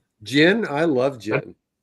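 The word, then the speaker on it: GHIN: It's the only only word that starts with a gh that's they want us to say jin.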